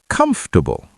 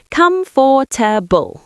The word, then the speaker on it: comfortable: Comfortable. Comfortable. That's easy. Come for a mistake. You're saying every syllable. Come for. That's wrong. Native speakers usually say comfortable. We squish it together.